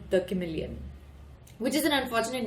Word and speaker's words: Chameleon: Cha to sound like car, said the manager.